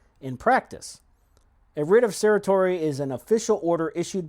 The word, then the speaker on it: certiorari: You have to petition the court for a writ of I may mispronounce this, but certiorari.